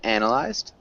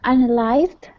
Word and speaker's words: analyzed: okay okay and analyzed we emphasize the first syllable can you repeat analyzed yes uh analyzed yeah analyzed analyzed analyzed